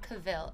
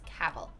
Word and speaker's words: Cavill: Oh, it's Cavill. I've been pronouncing his name wrong. It's not Cavill, it's Cavill. So he's 1.85 meters.